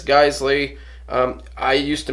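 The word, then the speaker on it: Geissele: Now, this is an ALG trigger, like I mentioned, and ALG is a sister company to Geisley Automatics. Some people pronounce it Giselle, but it's Geisley.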